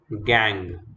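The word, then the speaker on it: gangue: with minerals are collectively known as gang okay funny pronunciation impurities associated with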